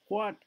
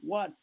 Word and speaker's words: what: Before, when we lived in the suburbs, before, দেখো উচ্চারণটা শোনো, before নয়, before, when নয়, when, what, how, when, what, where, when, what, where, এইচটা উচ্চারণ হয় না।